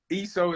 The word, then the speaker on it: ESO: ESO is the right way on how to say it.